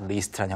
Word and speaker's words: least: 그래서 특히가 이제 바로 not least라는 형태로 쓰였고요. Mm-hmm. 리스트는 다시 한번 정리하자면 최소한, 최소한으로가 mm-hmm. 발음 다시 해주시죠. Least. Least. Least. 이거를 L-I-S-T로 쓰게 되면은 List. List. List. 목록이란 뜻이고 Right. 길게 하면 Least.